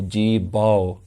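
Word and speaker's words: ਜੀਭੌ: And something worth mentioning here is the pronunciation is an ow sound rather than an o sound. If it was a hoda, it would be jeebhou. But this is a kannada which is ow, jeebhou. Ikdu jeebhou, muhau ke bolan boliye.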